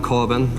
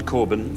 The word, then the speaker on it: Coben: Harlan Coben.